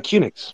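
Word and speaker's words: QNX: the operating system uh cunix okay you called unix yeah yeah so and cunix the origin of that is quick unix by the way so kunix always felt like it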